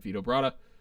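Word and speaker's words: Vito Bratta: and uh you answered vitobrata um zack you were like it rhymes with vibrato so i but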